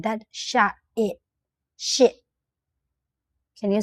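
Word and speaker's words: ရှစ်: We call Here you will see the Burmese eight, but we don't pronounce t sound. I just say Sh i sound, i sound like that. Sh i.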